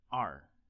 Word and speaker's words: 二: going to keep studying Chinese characters number two ar-ar-ar yes our is number two but before that